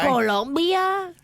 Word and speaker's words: Colombia: Colombia? You got to say it like that. Colombia? Colombia, yes.